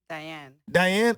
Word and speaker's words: Dayanne: And I got a very special guest with me, Dayanne. Dayanne? Oh, it's regular. Yeah. But it's just spelled differently.